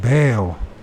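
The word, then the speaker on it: Baal: would still be worshiping Zeus and Bale or Bal pronounce it Al it's another way I say it I guess uh Christ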